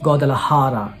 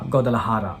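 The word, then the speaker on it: Guadalajara: I'm pronouncing it as godal laara that is J we should pronounce it as H like ha godal laara for Indians Mexico is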